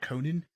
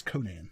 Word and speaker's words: Conan: I almost said Conan, like the TV show host. It's Conan. I mean, it's spelled the same.